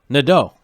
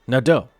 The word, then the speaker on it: Nadeau: The EAU and Nadeau is pronounced O in French. Like, oh my God, it's crazy to write the sound O. So we got Nadeau.